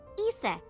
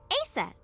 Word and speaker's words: Isis: But in ancient Egyptian, it's pronounced closer to Ise or Aset.